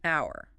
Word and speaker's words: hour: But the H is silent. You don't hear it. The first sound is ow, a vowel sound, so an hour.